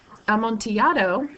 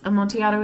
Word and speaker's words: Amontillado: and notice that it's the Double L is pronounced like a y as it is with like tortilla chip that's because am monato is a Spanish word and am monato is a type of